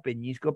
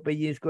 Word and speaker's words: pellizco: Igual ya hemos visto esta palabra, peñisco, pellizco, empeñón y empellón.